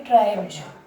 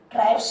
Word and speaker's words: tribes: BE आ रहा है, तो एस का उच्चारण क्या होगा इसमें, ज। इसको बोलेंगे ट्राइब्ज। क्या बोलेंगे, ट्राइब्ज। ठीक है, ट्राइब्स होती हैं जातियां, ट्राइब्स नहीं बोलेंगे, क्या बोलेंगे, ट्राइब्स बोलेंगे।